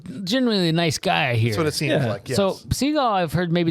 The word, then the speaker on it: Seagal: announce it every time I'm so used to saying Seagal but his name was actually like the bird Steven seagull he thought it sounded